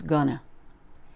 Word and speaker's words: gonna: look at these words going to is almost always gonna he's gonna have a